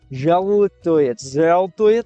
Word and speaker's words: жалуетесь: You gotta say жалуетесь with your tongue pointing at the L. Жалуетесь, это, как это?